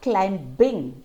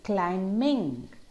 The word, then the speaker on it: climbing: the same pattern well it's not climb bing it's climbing and not dumb it's